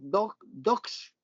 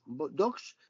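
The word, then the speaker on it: Dosch: que se llama Leticia Dox, no Bosch, Dox, pero que se escribe como si fuera Bosch, que hace también el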